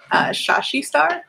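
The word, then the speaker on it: Shashe Star: socials you can find my personal art um shashi star that's how it's pronounced it's s-h-a-s-h-e s-t-a-r so that's for my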